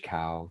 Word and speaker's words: Kao: google my name cao the last name is spelled k-a-o like dao right dao it's tao but yeah k-a-o is my last name with a k cow just google it click